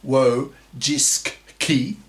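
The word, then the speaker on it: Wojcicki: former CEO of YouTube Susan wsky pronounced wo jiski was a feminist who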